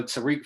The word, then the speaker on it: Tarique: social media man it's happening with me uh Tariq so my name is spelled t-a-r-i-q-u-e f-r-a-n-c-i-s follow me on social